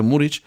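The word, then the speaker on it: Muriqi: kabul gören serlot ve murich gittikleri Avrupa takımların şişmiş bu muri ne hikmetse muriki yazılır ve fakat bizim futbol allamel eri tarafından muric okunur MKE Ankaragücü'nün bastır Ankaragücü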